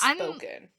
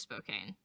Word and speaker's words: Spokane: What if it's not pronounced Spokane? What is about? I think it's pronounced Spoken. No, I'm pretty sure it's Spokane.